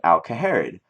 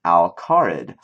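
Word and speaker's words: Al Kharid: alahar or alarid alarid I used to call it alerid um because that's kind of what it looks like but it's pronounced alarid so H interesting interesting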